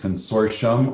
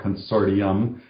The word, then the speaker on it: consortium: And thus the name Consortium, which I've looked up in the dictionary, and there's two pronunciations, Consortium or Consortium, and they're both correct.